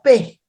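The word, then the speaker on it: פא: No solo ello, también tenemos este otro significado que se pronuncia Pe.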